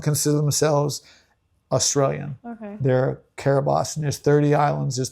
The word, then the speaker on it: Kiribati: Kiribati, but it's spelled Kirritmati.